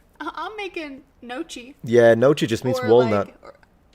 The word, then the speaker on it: gnocchi: And it's gnocchi. Yeah, we got that. He showed the word only. It gets me every time someone's like, I mean, it's fine, but like I'm making gnocchi.